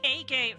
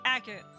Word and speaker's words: Agate: it cuz uh I used to say agate for the longest time for the that that one character Agate.